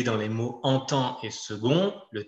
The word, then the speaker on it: second: Or, si on fait une liaison, second va être prononcé avec un T à la fin, donc le même qu'à la fin de petite.